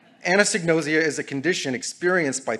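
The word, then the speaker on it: anosognosia: to talk about something by the name of anosignosia which we have heard today with several pronunciations anesignosia is a condition experienced by people like me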